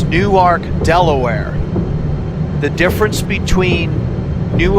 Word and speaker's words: Newark: you pronounce it so if I say new arc it means Delaware and if I say Newark it means New Jersey don't get that wrong